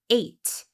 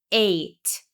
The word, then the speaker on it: ate: Well, now we have the word eight. This E is silent, but it gives us crucial information. It tells us to pronounce the previous vowel letter with a long vowel sound.